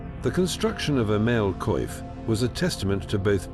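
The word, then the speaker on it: coif: To seal this critical gap in their defenses, knights relied on a masterpiece of metal work, the male koif, pronounced koif.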